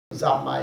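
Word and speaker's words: 三昧: And my teacher told me, well, that's good, that's called Zammai. Zammai is the Japanese pronunciation of samadhi.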